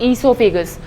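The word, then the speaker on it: esophagus: Food pipe को हम बोलते हैं ईसोफेगस. इस ट्यूब को हम बोलते हैं ईसोफेगस. ऑलराइट. ईसोफेगस में ओ साइलेंट रहता है, तो बहुत बच्चे इसको ओ ईसोफेगस बोलते हैं.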